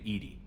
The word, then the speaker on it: EDI: airlock is a jar why are you named Edie Ed is the phonetic pronunciation of Eed that is an acronym for